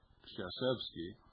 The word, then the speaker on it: Szewski: Gene Szewski, or I should say Szewski is the proper pronunciation, National Coordinator of the